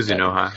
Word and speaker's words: Kuzunoha: Well, I can't even pronounce it. Kuzunoha, yeah.